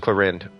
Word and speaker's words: Clorinde: No, it's just Clorinde without a final syllable. Oh, it's just Clorinde.